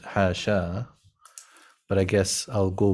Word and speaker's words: حاشا: The final alif is not written in the Quranic verses and is generally not pronounced. If we're being hafso-normative about it, it's actually, no, it's hasha. It's not hasha. That's a mistake. No, it's not a mistake. It's another qira'ah.